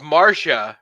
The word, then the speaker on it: Martia: it's spelt martyr isn't it yeah look it's marcia right that's how it's pronounced but it's m-a-r-t-i-a yeah okay just like